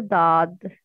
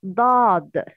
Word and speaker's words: ضاد: Yes, it's emitted from the side of the tongue.